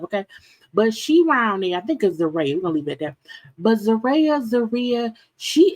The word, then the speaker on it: Zeruiah: how to pronounce it her name was pronounced zere okay that mean her parents can't spell okay cuz the way